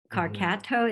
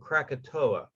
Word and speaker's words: Krakatoa: wikipedia this prior um carcato is that how you say it the eruption yeah actually um you have it's a oh krakatoa krakatoa eruption okay it caused a